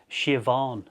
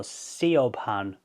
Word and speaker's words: Siobhan: It's Shioon if you know Siobhan. So that that is spelled S I O B H A N. So sepan but that's pronounced shioon.